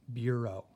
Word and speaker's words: bureau: a word like this this word is bureau beer oh and so we're gonna talk about on how these letters right here when put together can make a long o sound - okay so you